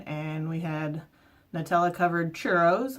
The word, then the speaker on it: churros: So I had mulled wine and we had Nutella covered churros, or churros if you can roll your R's.